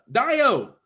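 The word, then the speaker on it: Dayo: Dio.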